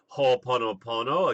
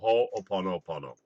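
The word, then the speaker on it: Hoʻoponopono: So now we're going to move along to the Ho'oponopono again, which is a great exercise for clearing negative energy, remote healing, difficult relationships, etc.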